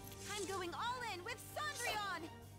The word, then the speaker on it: Cendrillon: This time, I'm going all in with Cendrillon! That's actually the French pronunciation of Cinderella, too.